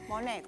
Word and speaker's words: Monet: Y si puede no pronunciar la T, mejor. Monet. Monet. Monet. Sí, así.